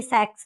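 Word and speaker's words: Sachs: Julius थे, Julius von सैक्स, नाम के स्पेलिंग पे ध्यान देना, प्रोनाउंसिएशन पे नहीं जाना है। तो Julius von, definitely सैक्स नॉट सेक्स।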